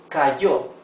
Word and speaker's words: cayó: When letter Y is followed by any vowel, the sound is y. Yo, I. Cayó.